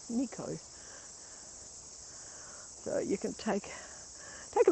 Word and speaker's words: Nikau: Spell it Nikau, Nico.